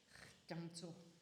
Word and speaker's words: Gyatso: And Gyatso is Gyamso.